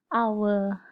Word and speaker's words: hour: pronoun and our, although the initial letters start with letter H. Then that is because when we say this word, we don't say it hour. It is silent H. So an hour.